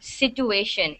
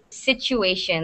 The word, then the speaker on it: situation: You're saying it as situation. So it's not situation. It's situation. Like there's a Uh, ch instead of the t.